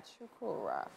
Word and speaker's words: Chukwurah: Finally, on the couch with us is actor, producer, and writer, Chukwurah.